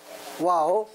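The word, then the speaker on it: ו: 접속사는 와우라 하는 거 와우라 하는 것은 원래가 이렇게 쓰는 거예요 와우 이것이 저이 저 그 헬라 히브리어의예요 앤 히브리어의 앤가 저 저렇게 되는 거예요 와우 와우라 그래요 와우 이 발음은 와우라 그래 와우 그리고 뜻은 그리고 그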